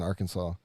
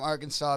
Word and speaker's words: Arkansas: i don't trust anything from arkansas because they got a silent s on the end and that's just pointless it says following the